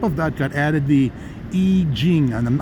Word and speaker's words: I Ching: that got added the I Ching, and I'm now pronouncing it correctly instead of calling it I Ching.